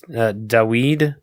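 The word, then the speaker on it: Dawid: But it's Daweed. You're going to laugh at his name? How do you spell it?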